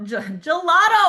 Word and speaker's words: Gelato: Gelato. Oh my gosh, can you unmute just so that I can stop saying your name the wrong way? It's okay. Gelato like the Italian ice cream rhymes with Moscato.